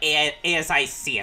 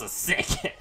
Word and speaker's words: ASIC: Oh, I have to actually say it like ASIC. I thought it was a sick.